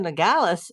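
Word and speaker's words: Nogales: uh the port of Ngalas uh Sonora, Mexico or Mexico if you want to pronounce it properly. if you want me to pronounce it.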